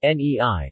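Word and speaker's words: 你: word meat meaning you even though the standard pronunciation should be nei the word is often pronounced lei which is the surname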